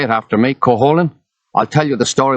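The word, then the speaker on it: Cúchulainn: cool cool cool holland say it after me coholin i'll tell you the story when you say the name right coholin i say it right and he tells me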